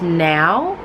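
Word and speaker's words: Nao: And then someone named, I don't want to say this wrong, but I think it's Now. It's spelled N-A-O.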